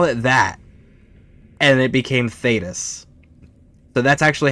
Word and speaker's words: Thedas: And by the way, Thetis, which is the name of the land, right, wasn't intentional. If you spell that out, it's THEDAS.